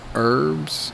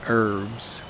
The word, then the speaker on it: herb: likes to grow herbs herbs is a word for herbs maybe like rosemary mint but notice that the word herb the H is silent so we don't say herb or herbs we say herbs so this area is